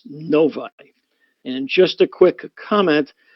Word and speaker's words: Novi: Metropolitan Detroit area uh and yes it is pronounced noi and just a quick comment for the folks